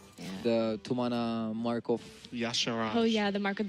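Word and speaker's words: Y'Shaarj: Not Yasaj, as a lot of people. I usually say Yasharj. I do too. It's incorrect. Yasharaj.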